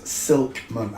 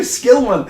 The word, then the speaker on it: Skillman: I've read that every time as Silkman. I'm telling you, that's the first time I've looked properly and seen your name, Skillman.